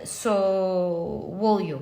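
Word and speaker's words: Sowilo: And look, you have the Sowolyo, yes, that's how we pronounce it.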